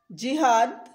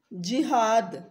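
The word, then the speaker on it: جہاد: जिहाद, ज के नीचे ज़ेर होगी, जिहाद। तिजारत, त के नीचे ज़ेर होगी।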